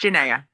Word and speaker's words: Janae: know janae see i even asked you how to say it and i said it it's janae yeah i know that's